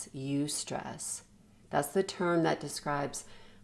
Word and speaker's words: eustress: stress is actually eustress you stress it's spelled e-u-s-t-r-e-s-s you stress that's the term that